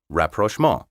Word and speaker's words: rapprochement: early 19th century but as you can hear it retains its french pronunciation rapprochement word seven disquisition d-i-s-q-u-i-s-i-t-i-o-n